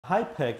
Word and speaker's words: HIPEC: hyek is an acronym it's spelled hip C and it stands for hyperthermic